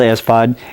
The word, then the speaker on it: sPOD: the name espod and some people pronounce it spod some say espod what is it it's called as pod and as pod it really means switch pod and what is